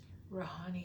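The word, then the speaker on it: Rihani: Rahani. Yeah, and she was spell it R-A-H.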